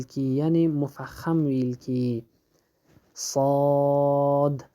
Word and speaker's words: صاد: صاد بعضی خلک داسې وایي چې سواد یو واو سره ټولوي په شندو باندې، هغه بالکل غلط دی. دقیق تلفظ صاد او د حرف د مد